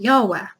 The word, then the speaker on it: Yahweh: So there is some debate on how it's pronounced because it's difficult to know what the vowels were. But we know it's YHWH. So most frequently we pronounce it Yahweh.